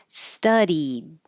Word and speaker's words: studied: Studied. The second syllable will be ed, studied.